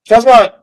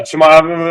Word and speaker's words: Chimaev: Chazmot. I don't know if I'm pronouncing that right, but Chazmot. He might be a force for a while. Chimaev? Yeah, Chimaev. I was saying it wrong, but yeah, because he's